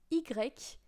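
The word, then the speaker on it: i grec: uh y next uh Y which is eg so this one is terrible to remember because um it sounds like Greek I uh basically Greek means uh no GRE means Greek in English and you have the letter Y after as well so EG yes French class starting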